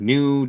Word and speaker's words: GNU: There was New Distillery out of Calgary. I think they're out of Calgary. And that's spelled GNU, by the way.